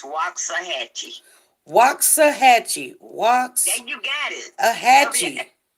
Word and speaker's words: Waxahachie: Yeah, but I know you have a hard time pronouncing the Texas town I'm in. It's Waxahachie.